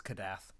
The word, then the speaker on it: Kadath: You still didn't remember it because it's Kadath. You still. I will say Kadeth. I will also pronounce Nyarlathotep or Nyarlathotep differently than you do,